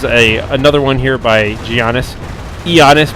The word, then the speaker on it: Giannis: Giannis, by the way. I should not pronounce the G.